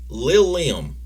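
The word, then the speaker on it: Lil' Lem: that but uh it's it is lil liam it's spelled l-i-l apostrophe l-e-m i thought you were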